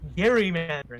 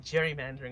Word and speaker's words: gerrymandering: So, okay, for for my chat, it's it is it is cor Yes, it is pronounced gerrymandering, not gerrymandering.